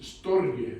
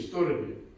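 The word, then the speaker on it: στοργή: Por ejemplo, tienes el amor es storge, me parece que se pronuncia así, storge.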